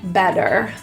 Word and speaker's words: better: Notice in better, the T is pronounced as a flap T, sounds like a D, better.